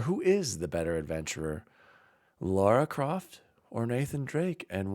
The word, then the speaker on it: Lara: drake no i think laura croft would actually be the actually pronounced lara didn't i say lara croft better adventurer because